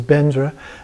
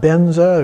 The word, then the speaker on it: Vajra: recite the mantra and so the mantra is vajra guru padma city home it is pronounced guru pema city by tibetan so slight difference there the the vadra is bendra and the padma is pemei and so some